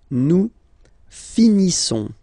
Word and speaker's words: finissons: Nous finissons. Okay, I-S-S-O-N-S. Issons. Nous finissons. Finissons. Okay, final S, not pronounced.